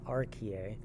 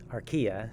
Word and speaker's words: archaea: covering the bacteria and rka um archaea sorry uh if you're kind of confused how to pronounce that word just think ikea and kind of change it a bit to sound like archaea so we've previously talked